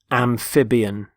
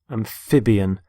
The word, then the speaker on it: amphibian: first word is amphibian amphibian notice the stress on the middle syllable amphib amphibian there are animals such